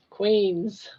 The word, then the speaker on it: Queens: Just learned to pronounce. I was calling it peas. Well, it looks like peas. Queens.